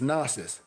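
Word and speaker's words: gnosis: So from the Greek root word, if you have a lexicon, what is spelled is nasis. G n o- s i s found in the episttol of John.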